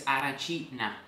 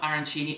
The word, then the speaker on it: arancina: The real pronunciation here is arancina and not arancini as we all say in the US, especially when you talk